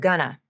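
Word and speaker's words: gonna: which is great but be careful about the pronunciation of Ghana even though it's spelled with the letters o and a they are pronounced like a with the stressed uh in the first syllable and the schwaha in the second syllable she also reduces the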